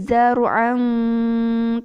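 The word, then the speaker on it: زَرْعًا: Fanukhriju bihi zar'an ta'kulu minhu an'amuhum wa anfusuhum. Zar'an itu harus jelas. Dengungnya harus lama ya. Zar'an maksudnya lama itu stabil sama dengan dengung-dengung sebelumnya. Afala yubasirun.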